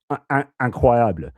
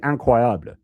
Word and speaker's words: incroyable: The French stress the third syllable, so they would say incredible, incroyable. So in French they say incroyable. So the stress is on the third accent.